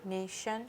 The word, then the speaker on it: nation: talk about natural but we're making the sh shun sound that the t is using the t i so n a t i t i correct what is your word nation okay and how would